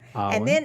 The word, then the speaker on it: Awyn: So you guys don't put an R in there. Awyn.